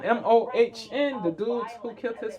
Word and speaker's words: Mohn: You pronounce his name Mohn, M-O-H-N, the dude who killed his father?